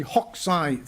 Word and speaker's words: Hokusai: regiment tested in the hawkside VTE you don't pronounce the U if you talk to somebody Japanese is non-inferior to the